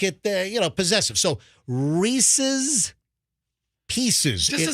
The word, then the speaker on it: Reese's: bet you a ton of our listeners say Reese's no it's Reese's so think Reese Withers spoon Reese Reese's all right we get it say it slower Reese's it's unnatural with the double it's like July